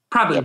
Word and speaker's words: Prabhu: So the two people joining us today are Kedar Prabhu. Am I correct. Pronouncing that? Prabhu. Yep. Perfect. Yep.